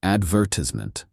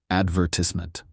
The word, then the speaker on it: advertisement: American advertisement. British advertisement.